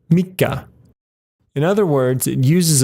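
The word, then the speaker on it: 三日: slightly irregular as well it's not San Nietzsche but rather mica in other words it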